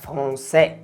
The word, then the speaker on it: français: Cuando se junta la A con la I, hace E. Como en la palabra français.